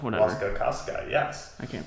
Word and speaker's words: Wasikowska: It has Tom Hiddleston in it, Jessica Chastain, Charlie Hunnam, Mia Wasikowski. Wasikowski. Yes. Or Wasikowska, whatever. Wasikowska, yes. I can't pronounce it.